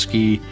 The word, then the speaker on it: SCI: scientific Computing and imaging which we pronounced ski we were the ski